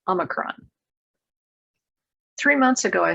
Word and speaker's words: omicron: do you pronounce it good housekeeping says that there are four common ways to say it omicron is a greek letter and since the pfizer ceo is from greece the wall street journal put up a video of him being asked to pronounce it he says omicron three months ago i